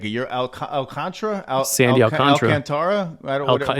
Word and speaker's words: Alcantara: Sandy Alcantara. Alcantara? It's pronounced Alcantara, and they will see him tomorrow.